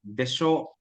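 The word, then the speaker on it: でしょう: But ginapronounce sa desho, pababa siya sa desho.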